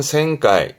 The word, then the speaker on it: 旋回: 발음은 생가이. 생가이.